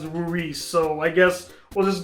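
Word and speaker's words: Louis: The strongest character by far is Luis, or Luis, however you want to pronounce it, although the mangaka even pronounces it as Luis, so I guess we'll just go with that.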